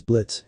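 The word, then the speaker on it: Blitzø: raise a fool anyway the name is Blitz and the O is silent I'm the CEO and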